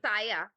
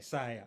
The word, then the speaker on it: Saya: Saya Saya. rhymes with Maya. Okay, Saya.